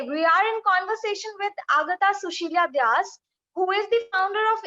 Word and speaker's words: Agatha Susheela Dias: Let me pronounce my name properly. Agatha Sushila Vyas.